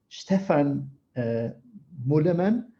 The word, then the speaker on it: Stefan Muehlemann: very special guest and I will try to pronunciate your name in in the best way possible Stefan moola man very good which is the founder and CEO